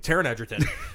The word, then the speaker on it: Taron Egerton: this one up to like possibly interesting news Taron Egerton I hope I'm pronouncing his yeah that's right Taron Egerton he's in talks to star in a new